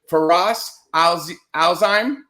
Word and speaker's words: Firas Alzaiem: because my name is Mike it's easy to pronounce I mess up everybody's name so it's FAS Al alheim yep you got it and Wanda Kalo yes